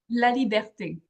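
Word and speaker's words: Laliberté: Laliberte is even better, but some people they don't say the yeah, they forget about the E at the end, which is How do you actually pronounce it? La Liberté.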